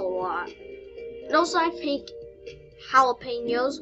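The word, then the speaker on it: jalapeños: And also I think jalapenos, which are pronounced that way even though they start with a J.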